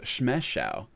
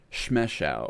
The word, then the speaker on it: Shme Shao: Actually, Shme Shao. That's how I pronounce it. Not very intuitive, but comes from an unusual language. Shme Shao.